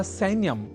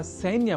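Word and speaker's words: सैन्यम्: ही चुके हैं कि सैन्य या सैन्यम में ऐ इस अक्षर का शुद्ध उच्चारण करना होता है आवश्यक अर्थात सैन्यम को सैन्यम इस रूप में हमें नहीं उच्चारित करना है क्योंकि संस्कृत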